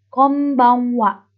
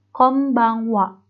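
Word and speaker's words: こんばんは: Konbanwa. Itu N-nya dibaca M. Konbanwa.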